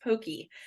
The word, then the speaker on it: Pocky: or something like that it's not pronounced Pocky it's pronounced Pokey which is I see